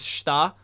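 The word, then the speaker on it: 下: It's pronounced as shita.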